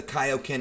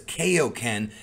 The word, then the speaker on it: kaioken: most comprehensive and detailed look at what the kaioken is and how it works on this edition